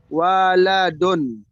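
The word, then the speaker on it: وَلَدٌ: Tapi kalau misalkan yang artinya itu bapak, itu wa-nya itu panjang. Walidun. Jadi dibedakan ya. Dibedakan. Dibacanya waladun sama walidun. Gitu. Ya, kalau walidun itu di situ ada alifnya atau hamzahnya. Kalau waladun itu tidak dibaca dibaca panjang, langsung waladun begitu.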